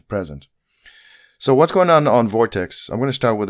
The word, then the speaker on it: Vort8x: It's pronounced Vortex, but it has the digit eight instead of the E in right in the middle.